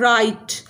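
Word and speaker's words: right: भी जी साइलेंट है राइट आर आई जी एच टी राइट यहां पर एच की साउंड नहीं आई इसी तरह टाइट वाइट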